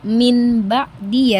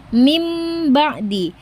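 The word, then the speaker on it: مِنْ بَعْدِ: Nah, jadi kita membacanya bukan min ba'di ya, Teman-teman, tapi mim ba'di.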